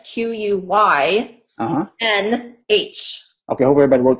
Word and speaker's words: Quynh: Yeah, but it's spelled a little differently because it's Vietnamese. So because people think it's Quyinn, but it's Quynh.